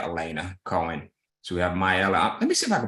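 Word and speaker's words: Miaelle: twin and a family her name is uh myella you gotta pray for me because I I tried to get my daughter to name her a simple name but she went with myella so it's spelled m-i-a-e-l-l-e uh my daughter's middle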